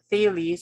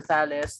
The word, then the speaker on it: Thales: a pre-socratic idea from thales or salis depending on how you pronounce the name uh he did think